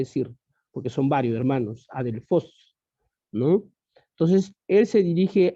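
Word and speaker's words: ἀδελφός: palabra hermanos que encontramos en el griego significa a delfos tal cual como está ya se pronuncia en todo caso porque la escritura es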